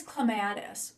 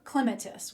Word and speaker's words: clematis: Okay, now we're going to talk about a perennial vine, and that is clematis or clematis, whichever way you like to pronounce it.